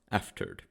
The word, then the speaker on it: afterward: The entire back section of the ship is called the afterward, pronounced aftered, or just aft.